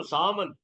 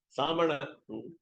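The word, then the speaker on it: Sāman: Yeah, so also Saman. Saman is Nakaranta Shabda. You cannot say Samana. What we call Murdhanya, we cannot use Samana.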